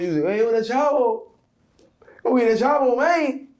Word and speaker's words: Chavo: Once I'm able to have things that work, for instance, Cartiheir Chavo. Let me tell you how to pronounce the name of my joint too. Cartiheir Chavo. It's not Chavo. It's not Chabo.